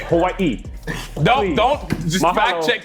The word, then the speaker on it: Hawaii: Hawaiians get mad when you mispronounce it, and I got for it. So, it's Hawaii.